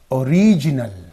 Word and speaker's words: original: And when it becomes an adjective, original, original. O is lightly stressed, lightly pronounced. So you say original, original.